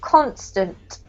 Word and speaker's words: constant: This one here has the emphasis on the first syllable, constant.